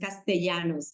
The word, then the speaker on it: Castellanos: surname would be pronounced Castellanos in Spanish we pronounce the Double L like you so Gloria Castellanos is